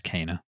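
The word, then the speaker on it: Kena: the 21st we had kinah bridge of spirits or is it cana i've been saying it wrong haven't i yeah it's cana cana bridge of spirits okay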